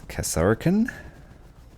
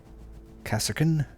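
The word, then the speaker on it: Kasrkin: Just realized I've been pronouncing their name wrong. It's Kasarakan. Kasarkan.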